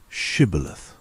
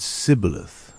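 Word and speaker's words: shibboleth: Those trying to flee were asked to say shibilith. If they said cibilith, unable to pronounce the word rightly, they were seized.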